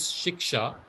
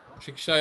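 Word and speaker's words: शिक्षा: And the six are one is shika. Shiksha is how to pronounce it.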